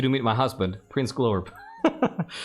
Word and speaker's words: Glorb: I would like you to meet my husband, Prince Glorb. It's not quite the right pronunciation, but I love that they're trying. Oh yeah, it's actually Glorb.